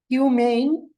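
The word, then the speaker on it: humane: কি হয় এডজেক্টিভ হয় হিউমেন আপনার দুই নম্বরের উচ্চারণ হচ্ছে হিউ মেন এটা কিন্তু ম্যান না এটা হিউমেন হিউ মেন হিউমেন হিউম্যানে ই না থাকলে কি হয়?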